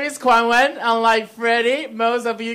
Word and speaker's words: Kuan-Wen: My name is Kuan-Wen. Unlike Freddie, most of you guys cannot handle the pronunciation, let's be honest.